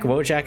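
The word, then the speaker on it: Wojak: the soy boy yak wojack i don't know it sounds eastern european so i'm gonna i'm gonna pronounce the j as like a a y sound in american english anyway i don't understand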